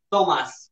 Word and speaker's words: Tomás: Tomás, con acento en la A.